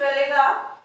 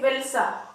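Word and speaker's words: Wałęsa: थे farmer shipyard के, lake वेलेगा, इसको प्रोनाउंस किया जाता है लेक वेल्सा, ठीक है।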